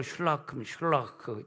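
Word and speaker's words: שָׁלוּחַ: 실로암이 보냄을 받았다는 뜻인데, 실로암이 히브리어로 슐라크, 독일어의 CH 발음이 크 하듯이 슐라크입니다. 슐라크.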